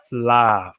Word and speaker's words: fleadh: um that is and the way you say it as well in case anyone is looking at that word and thinking how do you say it is fla fly i know i'm